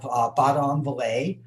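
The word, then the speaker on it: Badonviller: In big letters, I have Baudon-Vallée, and I'm pretty sure that's pretty close to how it's pronounced. I asked a couple of French speakers.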